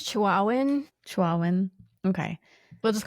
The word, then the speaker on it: Chihuahuan: I think it's Chihuahuan.